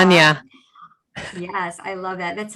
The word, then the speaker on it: Anya: Anya.